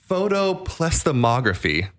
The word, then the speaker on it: photoplethysmography: Well, this uses a science called, I'm going to try to pronounce this properly, photoplethysmography is the correct way to pronounce it.